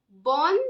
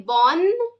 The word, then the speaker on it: bonne: So when I say the next word, bonne journée, that time I say bonne journée. The tongue touches the upper part of your mouth when you pronounce B-O-double-N-E.